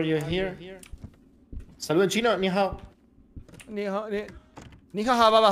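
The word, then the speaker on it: 你好: Hola, en chino es ni hao, pero se pronuncia ni ha. O sea, como que la O es impronunciable.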